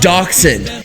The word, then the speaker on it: dachshund: It's a dachshund. A friendly reminder that it's pronounced dachshund. You I will call it a dachshund.